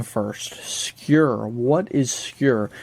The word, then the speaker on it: Skur: first skewer what is secure it's spelled scur s-k-u-r but in Norway it's pronounced secure that's why I use